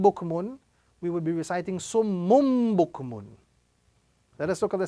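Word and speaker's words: صُمٌّ بُكْمٌ: So the rule is we simply join the tanween to the small meme which is appearing on top of the small ba. So instead of reciting summun bukmun, we are now going to be reciting summum bukmun.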